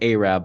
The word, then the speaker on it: Arab: And there's even a place called Arab, but they pronounce it Arab, of course. They don't say Arab.